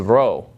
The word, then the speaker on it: rho: you're reading Greek you need to get used to pronouncing this as an R sound and not as a piece out and just keep in mind what the P looks like remember it from math okay so this is a row and that is an R sound in Greek the next letter is